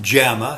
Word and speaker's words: JAMA: understand example the jamama Journal of the American Medical Association pronounced jamama spelled j ma is a little more